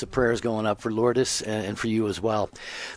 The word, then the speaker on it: Lourdes: By the way, her name was Lourdes, like Our Lady of Lourdes, but as Cubans we pronounce it Lourdes.